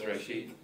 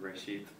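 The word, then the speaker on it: רֵאשִׁית: Reshith. It's Reshith. So Yeah. Reshit? that. Yep. Yeah, TH is on the end, Reshith.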